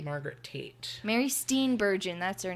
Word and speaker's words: Steenburgen: Mary Steenburgen, that's her name. Bergen? Wait, can I look at it? Steinberg. It's Steen. It's a double E. Oh, yeah. Mary Steenburgen. Bergen? Steenburgen.